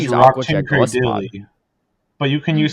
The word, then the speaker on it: Golisopod: it's apparently pronounced Golisopod, which I hate.